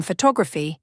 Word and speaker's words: photography: if you say photograph you stress the first syllable pH H to graph but in photography y the stress shifts photography if you get